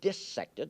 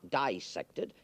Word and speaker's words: dissected: Parenthetically, you notice I pronounce the word dissected, not dissected. It is not dissection when you cut up fishes and mollusks and cats and things. The word is dissect, and the word is also bisect, but not dissect.